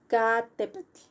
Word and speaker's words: Popocatépetl: First, petl. That's the last syllable. Four letters, but only one syllable, okay?